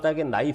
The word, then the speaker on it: knife: In English for instance you insist on pronouncing it as 'nife' but it is spelled 'knife' with a silent k.